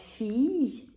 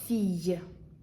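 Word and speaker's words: fille: вона не читається наприклад фій нфій виняток дві букви Л читається як й Це трошки важке слово фій напевно треба зразу сказати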